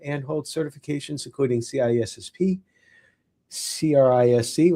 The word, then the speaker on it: CRISC: Army officer and holds certifications including CISSP, CRISC, which I think is pronounced C-RISC, but I'm not sure, CISA, and the Certified vCISO, which I'm sure we'll talk about in just a few moments.